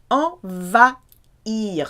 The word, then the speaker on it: envahir: Envahir, silent H of course. Okay, en as in invade or to take over.